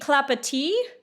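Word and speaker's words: Clapotis: note I mispronounced this pattern's name it's the clapa uh French pronunciation apparently keep your eyes peeled for a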